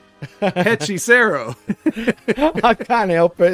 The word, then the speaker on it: Hechicero: And in this one, Hechicero starts with an H, so we don't say it, but that would mean you would say Hechicero.